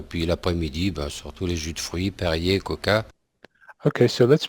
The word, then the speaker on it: jus de fruits: it may be that the fact that the de, the muti in the de is not pronounced, so it's jus de fruits, jus de fruits.